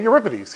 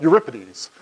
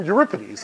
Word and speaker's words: Euripides: you pronounce Ripa DS he said you're Ripa DS I said okay Euripides he said no no no Euripides and I said you reckon he said no Euripides and then I just